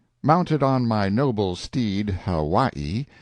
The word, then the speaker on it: Hawaii: on my Noble Steed Hawaii pronounced Haw stress on second syllable a beast that cost